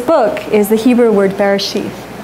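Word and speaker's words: בראשית: So the name of this book is the Hebrew word Bereshith. I pronounce it as if it's a sheath, Bereshith.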